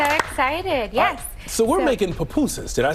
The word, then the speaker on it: pupusas: me I'm so excited yes so we're making papusas did I say it right you said it